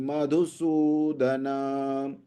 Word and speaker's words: मधुसूदन: मधु का धू छोटा है, सु बड़ा है। ज्ञतोऽपि मधुसूदन, अपि त्रैलोक्य राज्यस्य, अपि त्रैलोक्यराज्यस्य हेतोः किन्नु मही कृते, हेतोः किन्नु मही कृते।